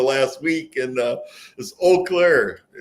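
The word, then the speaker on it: Eau Claire: Martin told me that I had heard it pronounced two or three different ways during the last week and uh this Oak Clair said the E silent on that right right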